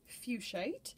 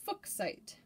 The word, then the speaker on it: fuchsite: so it is absolutely more typically pronounced fuchsite with a long u and a long eye however the mineral is